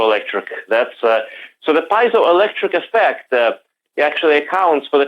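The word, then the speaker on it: piezoelectric: Sapphire through the p pazo Electric effect did I say it right pazo or piso electric how do you well it's piso electric as far as I could tell from the dictionary ah piso electric that's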